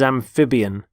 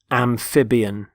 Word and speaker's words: amphibian: the first word is amphibian amphibian notice the stress on the middle syllable amphib amphibian they're animals such as